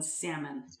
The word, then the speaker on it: salmon: You might as well just start pronouncing the L in salmon.